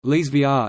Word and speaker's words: Elsevier: Elsevier (Dutch pronunciation: Lees VR) is a Dutch information and analytics company and one of the world's major providers of scientific, technical, and medical information.